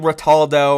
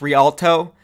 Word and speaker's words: Rialto: name of the map I was saying rat aldo or Rotolo but it's actually pronounced rialto and that's my bad